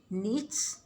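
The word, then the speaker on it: niche: करवाई इकोलॉजी में जिसको निच कहा गया। कुछ लोग इसको निक कहते हैं, नीच या निक जो भी कह लें ठीक होगा। नीच ज़्यादातर प्रोनाउंस किया जाता है इस वर्ड को।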